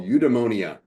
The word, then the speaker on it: eudaimonia: And it's a Greek concept called udemonia. Udemonia. If you're trying to spell it, it's e u d a i m o n i a.